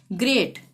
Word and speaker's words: great: ग्रेट, GREAT, जी के बाद क्या रहा है आर, IEY नहीं है, ठीक है, तो ग्रेट ग का उच्चारण होगा।